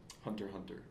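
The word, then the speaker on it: Hunter × Hunter: That's one thing I loved about Hunter x Hunter. Hunter X Hunter X Hunter. This you're not supposed to pronounce the X.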